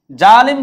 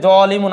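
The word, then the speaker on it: ظالم: জালিম শব্দের অর্থ হচ্ছে জুলুমকারী বা অত্যাচারকারী। জালিম শব্দের অর্থ হচ্ছে জলিমুন। এটা আমরা কিন্তু জালেম হিসেবে বলি। কিন্তু শব্দটার উচ্চারণ হচ্ছে জলিমুন।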